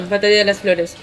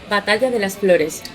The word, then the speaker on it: Batalla de las Flores: Oh yeah, Batalla de las Flores. And what is it? How do you say it? Batalla de las Flores.